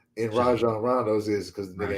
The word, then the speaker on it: Rajon: was like, why don't you pronounce the J? And you do pronounce the J. It's a soft J. And Rajon Rondo's is because the nigga ain't got a J in him.